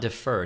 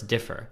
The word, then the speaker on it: differ: It's not defer. It's differ. How does this differ from this?